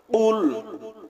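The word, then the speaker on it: قُلْ: কুল হুয়ল্লাহু আহাদ কুল হুয়ল্লাহু আহাদ কফ লাম পেশ কুল কফ লাম পেশ কুল কফ গলার ভিতর থেকে কফ গলার ভিতর থেকে উচ্চারণ হবে একটা হল কফ আরেকটা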